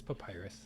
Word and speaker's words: Pipiras: It's Pipiras. Everybody gets it wrong. It's not. It's papyrus. It's Papyrus.